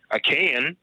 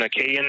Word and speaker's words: Achaean: And once the Minoans gave way to the Indo-European Achaean, I believe that's how it's pronounced, it's spelled Achaen.